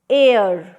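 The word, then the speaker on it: heir: एन एयर, एच इसमें silent है।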